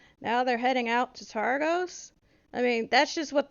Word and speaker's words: Targos: that that uh torx is uh heading towards targus you heard of it for where uh targos i believe hold on one second i'm probably saying that name wrong brian argos yeah targos i was all right all right yes heard